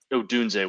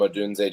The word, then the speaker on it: Odunze: looking those up, Romo Dunza, I can never pronounce his name the correct way. Odunze was fantastic. That the first touchdown he scored, that route was just unbelievable. Yeah, between Marvin Harrison Jr., Keon Coleman, and Rome Odunze, just to name a few, it's a really,